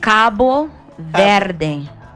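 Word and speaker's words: Cabo Verde: you say about cap vering how do you pronounce it Cy it's Cabo ver but in English we say just like um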